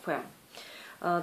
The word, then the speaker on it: Femme: Почему я должна знать, что это читается не по-английски, а по-французски, поэтому я его называю, принципиально называю Femme.